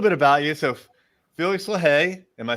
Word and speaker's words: LaHaye: So, Felix LaHaye, am I saying it correctly? LaHaye?